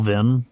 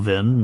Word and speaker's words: vin: Uh, the old Norse language had two different words that sound like vin. One with a long e vowel vin does mean wine, but another with a short e vowel vin means something completely different.